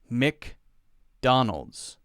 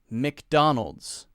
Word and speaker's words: McDonald's: this one right McDonald's McDonald's McDonald's Mik Mik we don't say mac usually some people might say a little bit longer that that part of it might be a little bit longer McDonald's some people will say